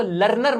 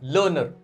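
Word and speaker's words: learner: अब इसको लर्नर मत बोलना, इसको इस तरह से पढ़ना, लर्नर। प्रोनाउंसिएशन अपनी प्रिसाइज रखना।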